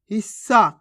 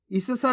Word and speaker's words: हिस्सा: हफ्ता कैसे पढ़ेंगे हफ्ता हिस्सा कैसे पढ़ेंगे हिस्सा इस सा नहीं पढ़ना आपको अगर इस सा पढ़ोगे